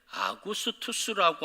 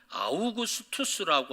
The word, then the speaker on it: 아우구스투스: 실제로 로마 제국의 원로는 옥타비우스 황제에게 아구스투스라고 하는 칭호를 붙여주게 됩니다. 오늘 성경은 아구스토라고 이야기하고 있고요. 또 어떤 발음은 아우구스투스라고 하는 그런 이름으로 발음할 수 있습니다.